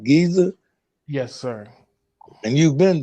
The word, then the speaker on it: Giza: i remember yeah and the uh pyramids of giza did i say it right giza yes sir and you've been there i have